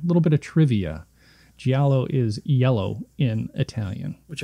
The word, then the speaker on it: giallo: up, but I didn't look at how to pronounce it. They referred to it as a Giallo. It's Giallo, yeah. It's Giallo, yep.